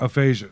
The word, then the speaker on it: aphasia: has a disease is that what it is aphasia it looks like i don't know how to pronounce it aphasia no that's perfect he was diagnosed with aphasia